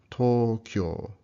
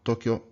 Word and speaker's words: Tokyo: So Tokyo actually has two long O's, these doubled vowels. Should sound like Tokyo, not Tokyo, but Tokyo, Tokyo.